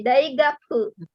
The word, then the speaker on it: Daigaku: Daigaku go Daigaku go Daigaku bukan gak ke ya bukan tapi ooh ingat Who terakhir diucapkan tidak monyong ya jadi Daigaku sehingga konsep modern yang